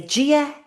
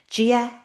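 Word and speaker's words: Dia daoibh: So, Gia, a BH at the end of a word like an MH sounds like the consistently. Gia. I'll write that in the chat. Gia Yev.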